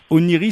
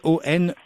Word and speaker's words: Oneiroi: Oniri, ça s'écrit OneiroI, Onei Roi, si je le prononce à la France.